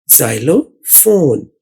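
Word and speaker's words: xylophone: अब यहाँ पर PHONE असल में FON वाली आवाज निकाल रहा है फोन। उर्दू में देखिए फे वाओ नून फोन, जाइलो फोन।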